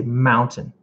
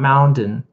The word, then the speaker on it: mountain: But for that one, I actually do say the T and my tongue goes right behind my teeth.